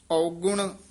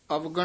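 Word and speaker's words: ਔਗੁਣ: जिन हर हर नाम न ना चेतेओ इथे विश्राम सो औगुण आवे जाए सो औगुण उच्चारण करना है अवगुण नहीं कहना सो औगुण आवे जाए।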